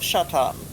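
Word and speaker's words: Šatan: Well, Miroslav Shatan, but his last name is spelled like Satan.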